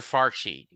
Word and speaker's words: Fauci: Fauci. I'm saying the name wrong. During COVID. You know, there is this bright spot. Fauci.